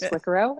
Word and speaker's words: Squicquero: for those of you, and it's probably everybody wondering how to pronounce my last name, it is Squicquero. It's like Figaro, so just keep that in the back of your mind.